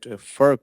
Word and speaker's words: FERC: I noticed, Tony, that FERC pronunciation is just one syllable, but if you want to call it AMIC, it would be 2 syllables.